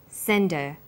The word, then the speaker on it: send her: the strong form and her is weak because her is not stressed we drop the initial H sound so it's pronounced sender what did you send her